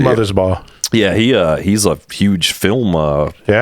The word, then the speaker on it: Mothersbaugh: And the main dude, Mark, is it Mothersbaugh or how do you say it? Mother's Ball.